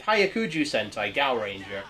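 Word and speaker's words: Hyakujuu Sentai Gaoranger: The original Ju2 monster designs reminded me of what Toei would go on to do, with Hyakuju Sentai Gaoranger. Yes, it is pronounced like that.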